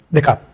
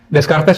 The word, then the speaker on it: Descartes: akal antara Ghazali dan Descartes. Ada orang bacanya Descartes, itu kurang pas ya. Descartes itu spelling Indonesia. Ya, yang benar Descartes. Agak sulit juga sih pakai R-nya itu, R-nya lain. Descartes.